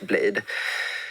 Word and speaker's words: Bladee: Men först låt oss bara reda ut hur man uttalar just Blade.